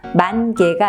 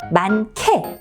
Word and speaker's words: 많게: 같이 쓰는 경우가 있죠 많게라고 얘기하면 히읗이 기억과 만나서 역시 음가를 바꿉니다 만개가 아니라 만케 이렇게 바꾸죠 또 한 가지 조금